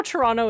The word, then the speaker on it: Toronto: So, this is something that I'm It's like how Toronto is actually pronounced Toronto. If you're Well, Toronto. Nobody says Toronto. That's true. Toronto is so actually I probably would say it if I was No, maybe I wouldn't say it. Toronto. Toronto. You're saying it right. Okay. Okay. Okay. I was like, am I was like Toronto? Toronto. That's a silly way to say it.